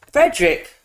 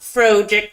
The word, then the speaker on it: Frederick: No, it's Frederick. Why not Frederick? Well, is it not Frederick Frankenstein? No, it's pronounced Frederick.